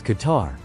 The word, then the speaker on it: Qatar: E R mosquito spray okay this is Qatar and that's how it's pronounced Qar was his first stop and